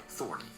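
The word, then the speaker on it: Thorne: He changed his name to Lauri Thorn, although he preferred the hybrid pronunciation Thorny.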